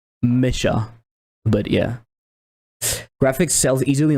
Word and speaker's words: Mecha: Mecha or it's Japanese. Yeah. Yeah, but I guess unfortunately the rule the rule of the world is that we pronounce stuff as uh in English, right? It's easier to call it Mecca. If you see a C, actually in French you would call it Mesha.